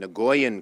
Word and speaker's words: Nguyen: had heard about and nguyen cao kee who I had read about because when in Vietnamese is ng u ye N which is a very common name is pronounced win and thank you for